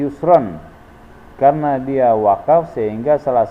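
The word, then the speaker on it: يُسْرًا: Cara membacanya panjang 1 alif 2 harokat. Contoh inna ma'al usri yusra, yang seharusnya tulisannya ini adalah inna ma'al usri yusron.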